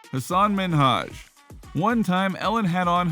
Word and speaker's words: Minhaj: the problem was that ellen kept saying his name is minaj instead of minhaj not cool things got